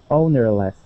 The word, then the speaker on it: ownerless: And so you can pronounce that as less, ownerless, or ownerless. And use ownerless. More of an or an I. Mm-hmm. Okay, we wouldn't say le, but an or an I. Either one.